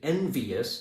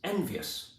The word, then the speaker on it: envious: Also, we know that the word is not, he is envious, it's envious, which actually is tighter, it's cleaner, and it fits in the scansion.